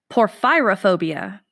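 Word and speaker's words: porphyrophobia: your first phobia is poor fyra phobia spell that for me p o r ph y ro phobia poor pyrrha phobia and your hint is ph y so it's poor fyra phobia poor fyra phobia sorry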